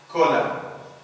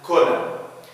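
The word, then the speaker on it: column: بنشوفه في بعض الكلمات like كولم، إن كتب لم ينطق. أوتم، نطقت الإم ولكن لم أنطق الإن، ما بنقولش أوتم، بنقول أوتم أوتم and كولم.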